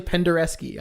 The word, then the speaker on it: Penderecki: noseness of using and ILX expects me to pronounce this correctly, the Krzysztof Penderecki. I'm sure I did that right. No, it's actually Penderecki.